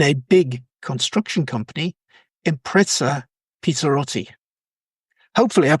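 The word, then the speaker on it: Pizzarotti: Now, Francesco is Chief Financial Officer for the whole of South America in a big construction company, Impresa Pizzerotti. Hopefully I pronounced that properly, Francesco.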